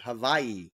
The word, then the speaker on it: Hawaii: from Hawaii and yes you pronounce it Hawaii with the w being a v sound just learned that did